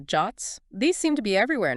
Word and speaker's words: JWT: Then there are JSON web tokens or JWTs pronounced JOTS.